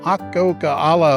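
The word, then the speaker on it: Akokala: area there's also a more moderate hike to ah coca a la Lake that's how you pronounce it it's only eleven point six very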